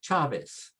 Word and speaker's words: Chavez: For example, Chavez. Chavez, the CH sound, and it's pronounced che. Che.